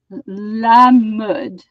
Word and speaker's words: Mode: La mud. Mud. Yeah, la Mud. mode. Like No, mud. M-U-D. yeah, it sounds like mud.